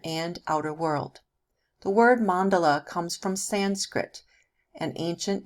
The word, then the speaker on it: mandala: mandala also pronounced mandala what is a mandala